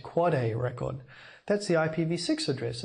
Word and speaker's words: AAAA: Similarly, you might not be surprised to learn that there's an AAAA, it's pronounced Quad A record.